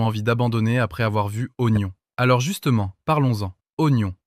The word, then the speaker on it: oignon: d'abandonner après avoir vu oignon. Alors justement, parlons-en. Oignon. Pendant des années, on l'écrivait avec un i qui ne servait à rien.